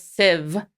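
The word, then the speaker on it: Sif: summoned by the goddess civ apparently it's with a v in pronunciation who knew yeah to her and thor's palace i'm going to say sith a lot because that's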